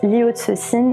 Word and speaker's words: Liu Cixin: Alors, ne vous étonnez pas, je prononce Liu Cixin puisque je le prononce à la chinoise.